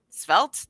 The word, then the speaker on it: Svelte: how you download the Volta front or spelled svelte did I actually say it right this year